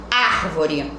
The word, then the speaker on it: árvore: ser proparoxítona é acumulado árvore A árvore é uma palavra proparoxítona porque a sílaba tônica é a antepenúltima e ela é acentuada tá então vocês irão